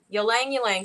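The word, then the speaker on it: ylang-ylang: get this wrong Y how do you say it y Lang you say oh you say the why you Lang you Lang so and I just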